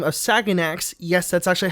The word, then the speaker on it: Saganax: Hey, before I start the video, I wanted to mention that a YouTuber by the name of Saganax, yes, that's actually how you pronounce his name, made a video about Yo Mama months prior to this.